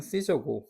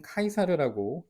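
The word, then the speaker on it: Caesar: 아우구스터스 뭐 우리는 그러니까 영어식 발음은 시저고 한국식은 카이사르라고 읽고 씁니다.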